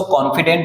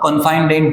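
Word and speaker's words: confident: ठीक है, इसका प्रोनाउंसिएशन क्या होता है, इसके दो प्रोनाउंसिएशन, इसको कॉन्फिडेंट भी पढ़ा जाता है और कन्फाइडेंट भी पढ़ा जाता है। ठीक है, दोनों करेक्ट है।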